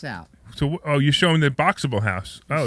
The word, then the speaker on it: Boxabl: It's Boxable, and it's spelled BOXABL.